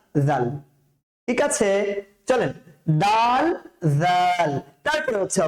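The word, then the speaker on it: ذال: তারপরে হচ্ছে স্যার জাল জাল উচ্চারণ করার সময় ফা এর কাছে ফিরে যেতে হবে সাটা ঠিক যেখান যেখান থেকে উচ্চারণ করেছিলাম জাল টাকেও চেষ্টা করতে হবে কি ঠিক সেইম সেম এক কালার জায়গা থেকে উচ্চারণ করার জন্য বুঝতে পেরেছেন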